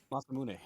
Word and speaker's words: Masamune: Masamune. Oh. Masamune? Oh yeah, Yeah. that's Masamune.